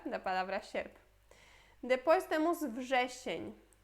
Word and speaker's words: wrzesień: Depois temos wrzesień. Wrzesień.